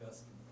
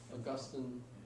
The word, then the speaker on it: Augustine: Saint Augustine. I've heard his name pronounced Augustine, Augustine. I've heard it different ways.